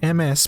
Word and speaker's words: Ms: Ms, on the other hand, MS pronounced Ms, is used when the